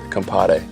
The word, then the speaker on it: compadre: Compadre. You gotta say it like compadre. Yes. With a D? No, Compare. Compadre. Compadre. You gotta roll the R's a little bit.